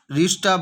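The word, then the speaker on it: read: আর রিডের third form রিড, রেড, রেড, উচ্চারণ আলাদা হয় কিন্তু বানান একই, উচ্চারণটা একটু আলাদা হয়, রিড past tense রেড, past participle রেড, কিন্তু বানান একই হয়ে যায়।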